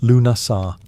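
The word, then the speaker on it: Lughnasadh: Lugnasad, pronounced Lunasar, the Celtic festival honouring Lugh, the god of light, craftsmanship, and war.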